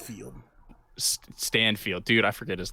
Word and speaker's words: Stanfield: Dude, I watched an interview with Lakeith Stanford. I think that's how his name is pronounced. Stanfield.